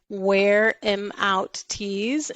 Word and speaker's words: Wear Em Out Tees: visit our website it's where I'm out tease and I'll spell that because it's slang it's not wear them out it's where I'm out so w-e-a-r em o